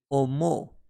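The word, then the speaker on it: おも: To think or to consider is being pronounced as omo, and later can be modified into omoimasu, omoimashita.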